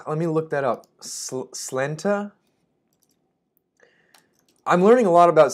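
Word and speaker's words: Sláinte: apparently there's a different pronunciation in Irish Gaelic, Scots Gaelic. Okay, slunta.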